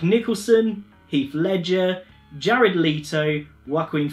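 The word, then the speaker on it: Joaquin: heath ledger jared leto juaquin phoenix you probably think i'm saying that wrong but i checked out quite a few interviews and i'm pretty sure that's how it's pronounced and the other who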